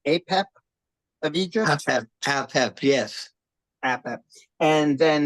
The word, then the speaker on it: Apep: there was which who you me am I pronouncing this right apep of Egypt apep apep yes apep and then there's also Satan